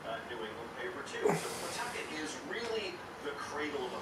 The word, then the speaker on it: Pawtucket: Although Pawtucket really is how you say it.